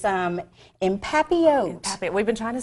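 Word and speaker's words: en papillote: It's empapillote.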